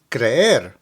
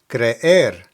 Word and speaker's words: creer: Now as a side note, this verb is very similar to creer, which means to believe. So it's important to be careful when you pronounce each of these because they can completely change the meaning of what you're saying.